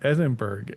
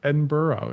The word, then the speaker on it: Edinburgh: So we went up to what I used to call Edinburg cuz my family's all from the Pittsburgh area, you know, and all her family's just ragging on me. They're like, "It's not Edinburg, it's Edinburgh. It's Edinburgh."